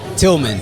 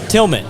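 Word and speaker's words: Tillman: say the first name Tilman Tilman yeah like Tilman fatita but better cuz I have two Ls he has one yeah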